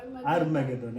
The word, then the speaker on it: Armageddon: Armageddon, A-R-M-A, Arma, Geddon. Armageddon.